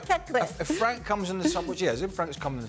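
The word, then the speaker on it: Caqueret: Lyon player is called Cacré. In French, when you have a T at the end and you don't have anything behind and you have only one T, you don't pronounce it. So it's Cacré.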